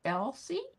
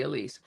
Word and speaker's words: Elsie: Oh, it is, but it's pronounced Elsie? Okay, so I've been saying it wrong. No wonder you weren't answering to it. Elsie, okay, I'm going to try to remember that. In my mind, I took it to be Elise.